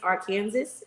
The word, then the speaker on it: Arkansas: Tonight is Arkansas. That is the correct way to say it based on Shelly said you know you're wrong. Based off of Boss Babe blog, that is the pronunciation in my language.